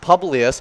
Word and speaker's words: Publius: Publius.